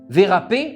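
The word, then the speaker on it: ורפא: Il se prononce avec un P souple, alors qu'il guérira, Vérapé, on parle du médecin, faisant allusion donc au médecin, et prononcé avec un P sévère.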